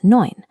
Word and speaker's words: neun: Whenever you see E and U together, they make an oi sound, like in oil. So, nine is spoken as neun.